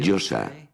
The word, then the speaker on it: Yose: La Yo, la A, que se pronuncia así, Yosa.